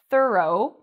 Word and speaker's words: thorough: So O-U-G-H sometimes is pronounced like O. What are some other words that have this pronunciation? We have although, thorough, and dough.